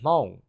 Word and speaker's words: Hmong: is, and I am Hmong, which is spelled Hmong. Hmong people are basically a